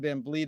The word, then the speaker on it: Van Vliet: Don Van Vliet.